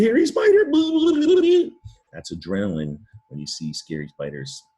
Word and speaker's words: adrenaline: it like a chemical word adrenaline adrenaline it's pronounced adrenaline now uh it looks like adrenal line or that silent e but you know that